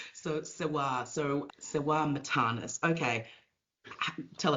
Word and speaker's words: Sewar: Siwa. Siwa is actually pronounced Siwar.